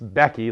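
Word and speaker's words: BEC-II: hearing more of is it's becky like the woman's name but it's spelled bec with a hyphen i i and if you're looking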